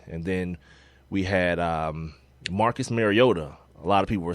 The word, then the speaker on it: Mariota: And I remember Kirk Herbstreit talking about his mom actually calling them and saying, "Please pronounce my son's name right." And it is not Mariota, it is Mariota.